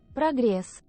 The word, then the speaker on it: Прогресс: How do you say it in Russian? Прогресс. Progress. Okay, so Soyuz in progress. So bit of an emphasis on the G right there.